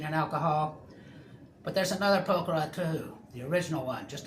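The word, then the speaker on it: Pokhara: Poker pronounced like a distinctly southern draw and gooey okra yaw is chilled and peaceful almost too tranquil.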